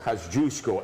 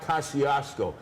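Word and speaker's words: Kościuszko: Kosciuszko, and it's not Kosciuszko. Some morons out there think it's like the mustard. Hey, Kosciuszko mustard.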